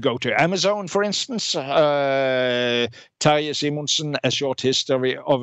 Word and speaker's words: Terje: Terje, that's first name. Okay. Terje, that's a Norwegian name.